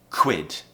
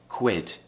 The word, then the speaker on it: quit: we need to do it all in one quit what what now try them together what what